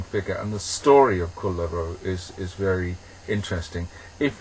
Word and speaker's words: Kullervo: about a character called kulo which is my attempt to pronounce in Finnish they pronounce all the consonants in Finnish so you